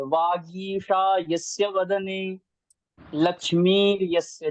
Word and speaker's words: वागीशा: वागीशा यस्य वदने लक्ष्मी यस्य च वक्षसि वागीशा, यस्य। ग गा में जो ईकार की मात्रा बड़ी है। वागीशा यस्य वदने लक्ष्मी यस्य च वक्षसि, ऐसा है।